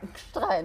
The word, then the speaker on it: Gstrein: Gstrein. Habe ich richtig ausgesprochen. Haben Sie richtig ausgesprochen.